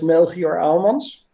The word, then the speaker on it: Melchior Aelmans: So sorry, it's a Dutch name. So we would pronounce it as Melchior Aelmans, but you did pretty well.